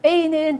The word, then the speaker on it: pays: pays는 나라라는 뜻이고요. 여기 끝에 자음이라서 발음하지 않아요. pays, 국가, 나라.